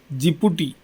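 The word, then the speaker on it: Djibouti: இந்த எழுதி இருக்கு பாருங்க இந்த டிய வந்து நீங்க உச்சரிப்புல விட்ரனும் நம்ம ராமர்னு எழுதினா முதல்ல இ போடுறோம்ல இலங்கைன்னு எழுதினா முதல்ல ஸ்ரீலங்காவுக்கு லங்கா அப்படிங்கறதுக்கு இ போடுதோம்ல இலங்கான்னு அது மாதிரி இது டி விட்ரனும் ஜிப்பு இந்த கண்ட்ரிஸ் ஓட நேம்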